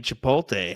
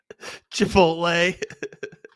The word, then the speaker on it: Chipotle: I mean, Chipotle has great Pib.